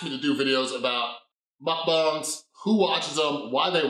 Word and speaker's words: mukbang: people who watch, how do you say it, mukbang, mukbang?